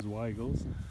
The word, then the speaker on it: Weigel: Bunch of Weigels here. I think you pronounce it Weigel. I think sometimes I said Wiggle when I was a kid, but it is Weigels.